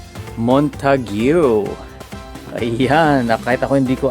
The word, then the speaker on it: Montague: Narinig ko kanina ang pag-pronounce pala nito ay Montague.